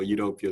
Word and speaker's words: UWtopia: is it utopia or udubtopia um actually i said udeptopia sounds much more smoother you know kind of like on one pronunciation so utopia is kind of like how we pronounce it okay um yeah i